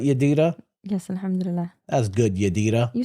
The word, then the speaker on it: Yadira: That's good, Yadira. You say my name weird. Why do I say your name weird? Because it's Yadira and you like Yadira, like you change the A's.